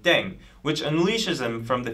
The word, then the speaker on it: 땡: Pronunciation of Ddaeng is similar to thang, which is the slang of thing in English.